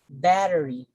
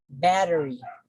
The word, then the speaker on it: battery: We say battery, battery. So it is also a three-syllabic word, the bat, the te, and the re. So since it ends with the combination of a consonant plus Y, so this is already an indicator that stress falls on the first syllable.